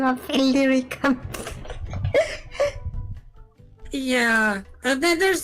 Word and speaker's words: Illyricum: behind the name of Illyricum. yeah, there's the reason why I'm pronouncing it Illyricum. Illyricum. That's kind of because that's kind of meant to be the more correct pronunciation.